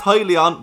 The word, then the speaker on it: Hyliion: to speak about helium i know that is pronounced highly on but i've been calling him hillian for too long to change now what is happening investors